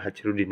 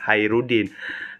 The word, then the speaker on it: Khairuddin: hajrudin Iya benar Hairudin Hairudin bacanya bukan hajrudin Ya emang tulisannya itu hajrudin tapi bacaannya itu ya Hairudin nah Selain itu Hairudin